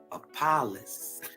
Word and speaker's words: Apollos: The name Apollonius is Apollos in Greek.